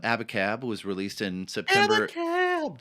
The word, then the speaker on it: Abacab: Abacab. There it is. You have to pronounce it like that, by the way. Sorry. Abacab.